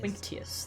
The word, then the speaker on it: Quinctius: Quinctius, that's how you pronounce it.